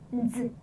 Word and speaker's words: z: continue Yang Yang's video pinyin is pronounced Z. Z. It's like the DS sound in the word yards or kids.